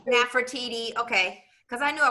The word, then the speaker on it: Nefertiti: Nefertiti. Nefertiti.